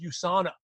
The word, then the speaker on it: USANA: still doing that us they didn't even know how to pronounce USANA you still doing that us thing I said no excuse me it's USANA yeah I'm still doing